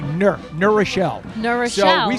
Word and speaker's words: New Rochelle: New Rochelle, for instance, and in New Rochelle, we don't say New Rochelle, we say Nur Rochelle.